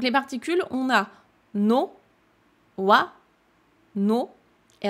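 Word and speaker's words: は: Le wa ici, c'est le thème de la phrase. Je vous rappelle qu'il s'écrit ha, il se prononce wa.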